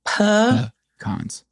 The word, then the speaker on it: pecan: And NPR has covered this, um and I feel like pecan is the correct pronunciation from the Algonquin indigenous peoples of America.